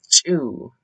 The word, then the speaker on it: Ts'uu: And this sound is similar to CH, but with a little more aggression to it.